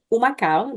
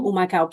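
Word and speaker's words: Humacao: born and raised in umaka that starts with an H but the H is silent so umaka Puerto Rico that's in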